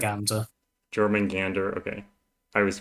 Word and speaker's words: Jormungandr: When you start setting something like Jormunger, is that the correct? Jormungandr. Jormungandr, okay. I was pronouncing it wrong in my head for a long time.